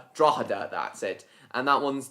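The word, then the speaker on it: Drogheda: That's easy to pronounce. I've mentioned that before. Drogader. Draada. Draada.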